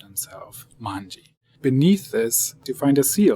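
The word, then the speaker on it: 卍: In Japanese, you pronounce this manji, which was Hokusai's last artistic name. He didn't always call himself Hokusai, and at this very late stage in his life, he called himself manji.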